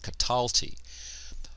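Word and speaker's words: קָטַלְתִּי: cataly notice here that the light consonantal endings the accent recedes to the previous syllable that's why I'm pronouncing it cataly all the light consonantal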